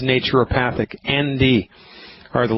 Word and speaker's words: naturopathic: turn, you do not know even how to pronounce my profession's name. It's naturopathic.